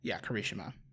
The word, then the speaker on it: Kirishima: Yeah, Kirishima.